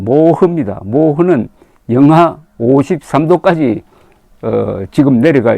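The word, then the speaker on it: 漠河: 한편 중국 흑룡강성에 있는 한자로 서면은 막한데 막하 발음은 모흐입니다 모흐는 영하 53도까지 지금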